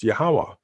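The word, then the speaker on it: Yahweh: in the Holy Scriptures yhw H which is pronounced yahwah and we've covered all that too so hopefully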